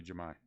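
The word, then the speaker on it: Jahmai: Is it Jemai? Jamie? So you pronounce it Jamie. Jamai. Jamai? Pache. Ian Anderson. Blue. Jamai. Okay, Jamai. Got it.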